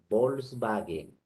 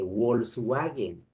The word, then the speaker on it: Volkswagen: también al fonema u cuando la w representa al fonema be en palabras que provienen del alemán por eso se dice volkswagen y no se dice wolskwagen sino volkswagen el nombre de persona